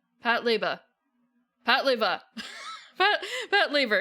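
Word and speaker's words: Patlabor: laa La Lea Pat laa Pat laa pat pat Laver It's Pat Laver okay my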